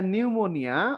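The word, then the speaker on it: pneumonia: এরপরে নিউমোনিয়া, অবশ্যই আগে একটা পি থাকবে, কোনো আওয়াজ নাই।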